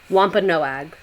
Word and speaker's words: Wampanoag: I'm gonna butcher it um but no egg Wampanoag the Wampanoag shared an Autumn Harvest Feast that